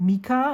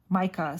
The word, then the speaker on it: Micah: favorite 3 pens said Mika, and I thought, ooh, that's interesting. I never thought of it that way. And then she herself introduced herself as Micah, so that's how you pronounce it.